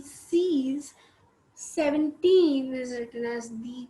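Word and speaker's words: seize: is written as c e i z e c's 17 is written as the x set okay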